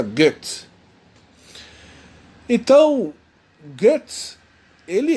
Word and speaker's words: Goethe: Se escreve Goethe, mas a gente pronuncia Goethe.